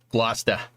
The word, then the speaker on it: Gloucester: But you lived in Gloucester for a few weeks before I knew how it was pronounced. Yep. Yeah, Sean. Gloucester. Yep. Yeah, you got to go up to Gloucester, get some good fish while you're at it there, dude.